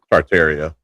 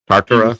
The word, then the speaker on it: Tartaria: or Yart Tarter Tartaria. Yeah. And I think the guy Yes. Um our video last week was saying Tarta. Saying it wrong.